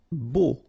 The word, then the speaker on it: beau: Beau. Okay, so remember we've got this strange combination of vowels, A, U, so 3 vowels, but then phonetically it's only O.